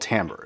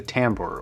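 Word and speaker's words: timbre: treble mid-range all that stuff is something called Tambor and it's actually pronounced Tambor even though it's spelled t IM bre and a real quick rundown is what Tambor is is the difference in tonality and sound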